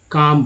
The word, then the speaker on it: calm: जैसे CALM क्या बोलते हैं दोस्तों, इसे काम बोलते हैं, ठीक है। L को एकदम साइलेंट रख दिया गया है, काम। L बोला ही नहीं।